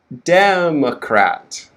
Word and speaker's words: democrat: syllable sounds are changing in the first word we have democrat okay so the first syllable is stressed and then we have the next syllable is reduced ma quick ma and then the next syllable we have the minor stress cracked okay so the vowels in this word are e a e e a okay so first syllable next one mo last one crap de ma crat demma democrat democrat and this is the